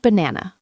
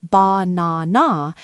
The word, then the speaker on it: banana: In the word banana, we don't say ba-na-na. We say banana. The first and last A become schwas.